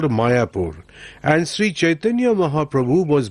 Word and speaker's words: Mayapur: village was identified as Mayapur. In the olden days, the Muslims used to call it Miapur. Although there is a difference in pronunciation, the similarity is obvious.